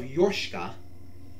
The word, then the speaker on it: Yorshka: By going back to the Church of Yorshka, yes, that's how it's pronounced, though I probably enunciated more on the Yorshka But hey, you never know.